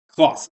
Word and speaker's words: Klaus: Klaus. Pronounced like the pickles.